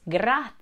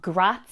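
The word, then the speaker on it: grazie: on how to pronounce grat it's not gra two syllables it's three syllables it's gra you can also add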